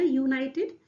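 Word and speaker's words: united: और अगर आप इंग्लिश में लिखेंगे तो यूनाइटेड, जो यू है आप इसे कैसे लिखते हैं, ऐसे लिखते हैं ना, यूनाइटेड, है ना, यू ऐसे शुरू होगा ना, यूनाइटेड,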